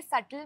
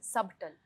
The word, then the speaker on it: subtle: इनके सेटल में B silent नहीं है। इट्स सबटल।